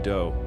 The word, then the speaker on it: Doe: This guy, Marshall Applewhite, but his friends called him Doe, which rhymes with Joe.